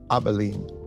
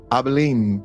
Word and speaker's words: Abilene: I want to talk about today is the abalene paradox abene paradox it is spelled a b i l e n e abene Paradox some time ago I overheard yes this